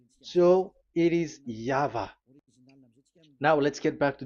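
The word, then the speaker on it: Yahweh: explanation but that is the phonms the pronunciation pronunciation is equal V. It is V Y H V. So it is Yava.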